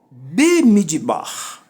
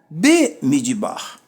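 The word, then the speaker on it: במדבר: Bemidbar. Bemidbar.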